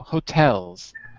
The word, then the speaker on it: hotels: said c hotels yes second syllable stress on the second syllable hotels you're saying hotels i'm